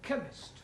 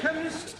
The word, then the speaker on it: chemist: Ali yes please spell chemist oh blame me k e n chemist does not begin with a k it sounds like it begins with k CH H but that